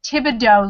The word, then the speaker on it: Thibodaux: Not how it's spelled. Everybody calls it Thule. Julie, Yeah. yeah. Same girl. She lived in Thibodaux, Louisiana, and it was like yeah. Thibadaux.